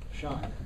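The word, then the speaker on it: Chein: was actually made by shine shine with a c i guess c-h-e-i-n is that did i say it right yeah and then here's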